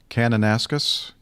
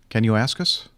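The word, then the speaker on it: Kananaskis: having trouble pronouncing Liz canonaskus can you ask us no Canon ask us okay that's cool I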